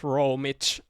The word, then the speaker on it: Romi4: This style was found by Romi4, how it's written. It's pronounced Romich, and he's this Russian dude who was really good at the game when he was playing.